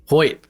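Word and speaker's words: Hoyt: Edge uh was it how do you pronounce it Michael hot Hoy hoit is it Hoy oh my gosh is that easy I've always heard Hoy y okay like ho it t yeah you'll be back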